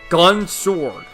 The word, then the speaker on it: Gun X Sword: one that I loved, Gun Sword. Spelled Gun X Sword, but the X is always silent in those series.